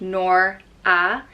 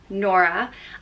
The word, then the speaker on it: Nora: boys as well Carrie the next name is nora and it's pronounced noir ah nora and it can be spelt with a photo